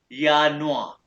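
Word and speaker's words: Januar: ये जो है ना आर एंड वाला इसको आपने करना है इग्नोर। लेकिन कैसे पिक करना है? यानुआ यानुआ अब मैं पहले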